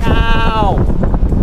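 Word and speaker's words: เก้า: And 9, which took me the longest to remember, is Cow. G-A-A-O. Cow.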